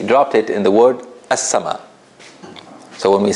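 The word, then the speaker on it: السماء: In the word as-sama, it's obvious that we didn't pronounce the lam. Because if we did, we would have heard it. We would have heard al-sama.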